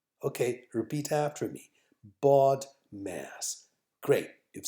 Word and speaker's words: BODMAS: okay so learn this word the magic word baud mass say it right now baud mass say it again baud mass okay repeat after me bought mass great you've said it three times learn that